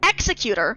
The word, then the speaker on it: executor: question real yeah exactly an Executor with the emphasis on the first part of this of of the word